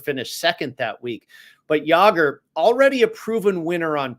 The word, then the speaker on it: Jaeger: And I started with Stefan Jaeger, or Jaeger, I believe is actually the proper pronunciation there.